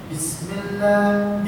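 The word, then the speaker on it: بسم الله: Bismillah, B-nya pakai I ya, Bismillah, jangan Bismillah, nah, pakai I.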